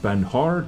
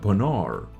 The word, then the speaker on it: Panhard: those armored cars called Pinard I think this is the way to pronounce it not panhard EBR but penor EBR or correct me if